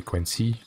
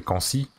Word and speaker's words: Quincy: Comme moi, hein, mon pseudo c'est Quincy. Je le prononce à l'anglaise, alors que, bon, tu te pointes et que tu fais Quincy à la française, c'est pareil.